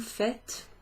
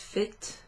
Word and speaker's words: faites: Sometimes you're going to hear that pronounced fit with an A kind of sound. Fit. Sometimes it'll sound a bit more like fait, fait, fait. So don't worry if you hear either of those pronunciations.